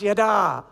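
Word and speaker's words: ידע: It's pronounced yada.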